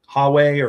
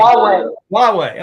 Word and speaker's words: Huawei: properly, Huawei or something like that.